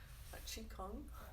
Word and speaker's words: qigong: a form of tai chi um so it's pronounced qigong chi kung um and it's just kind of a um